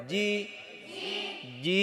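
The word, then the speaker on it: جيم: জিহ্বার মধ্যখান দিয়ে, এই যে জিহ্বার মধ্যখান জি। যদি এটা এটা এই জায়গাটা লাগান জি জি, তাহলে কি হবে? হ্যাঁ, লাগাতে হবে এই যে মধ্যখানটা। জি জিম।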